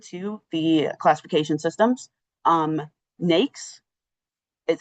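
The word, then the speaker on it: NAICS: Um NAKES is how you pronounce it.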